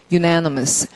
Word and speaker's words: unanimous: 안돼 유 언니에요예요 아니에요 만약에 언 이면은 우리가 이걸 언니라고 발음 발음기 할 때 on 이렇게 발음하면 이거 부정이란 얘기죠 UN happy 근데 이건 부정이 아니에요 하나란 뜻이에요 유 이렇게 읽어야 돼요 발음 unanimous 그러면 도량이라 건 뭐예요